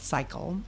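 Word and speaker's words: SICL: learning si si el some people pronounce it sickle but we we like to call it cycle and we have a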